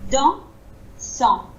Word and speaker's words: dansant: Et nous, quand on le prononce, on s'arrête vraiment après le son en. Il n'y a pas de petite vague après.